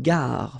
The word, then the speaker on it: gare: Une gare, final E not pronounced, une gare.